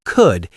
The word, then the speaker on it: could: The L in the word could is completely silent. Just say could.